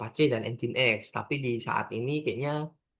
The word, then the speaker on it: Nginx: Nginx ya, bukan Nginx. Orang-orang kan ada yang ngomong Nginx gitu. Ya, itu kurang lebihnya kan salah sih, tapi ya lucu aja gitu. Dan pengucapan yang benar itu Nginx.